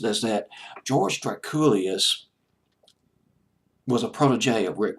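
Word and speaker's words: Drakoulias: of his last name his name was George Trek Ghoulia's pronounced us that George Trek Julius was a protege of Rick Rubin of Def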